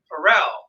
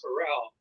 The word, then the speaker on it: Pharrell: Happy yes by who Pharrell that is correct awesome job I was gonna say Terrell dude right now it rhymes with Darrell's Farrell okay I got it oh